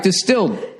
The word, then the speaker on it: DSTLD: All right, Distilled, pronounced distilled, offers luxury-grade denim at an affordable price.